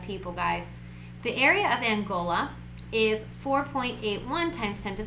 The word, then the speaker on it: Angola: angola i hope that's how you say it angola yeah it is angola i just checked my husband angola um so